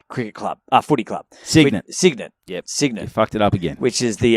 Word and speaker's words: Cygnet: the the so i could never get the pronunciation right but the sign at cricket club uh footy club cygnet yep cygnus it up again